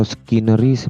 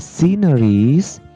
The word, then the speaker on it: sceneries: Netral the sea please ini dibacanya bukan sceneries atau channel list atau scanner is bukan de Xin De sineris the sinners pemandangannya are